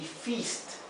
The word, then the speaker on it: feast: Otro ejemplo, fist y feast, también con la i corta y la i larga, ¿verdad?